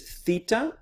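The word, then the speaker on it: θήτα: eita eita and then the next is theta this one if you look at the little o right there you can see the little tongue and making the th sound so we say feet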